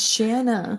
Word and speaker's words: Shanna: It's Shanna. Shanna. Shanna. I say it right? Shanna? Shanna rhymes with banana.